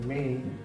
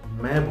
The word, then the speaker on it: may: मे को मैं बोलते हैं, मैं मतलब मैं गो आउट। गलत हो जाता है। एक्चुअली वो गलत नहीं बोलते हैं, उन्हें लगता है कि वो सही है, लेकिन जो प्रोनाउंसिएशन है वो क्या होता है? मे का होता है, मैं का नहीं होता है, मे का होता है। तो हम कभी भी मे को मैं नहीं बोलेंगे।